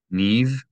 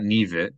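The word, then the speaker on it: נִבְרְאוּ: If you have two shavas in a row, the first shava is silent, meaning it's not a short vowel. It's no vowel, the absence of a vowel. Niv, niv, not nivit, but niv.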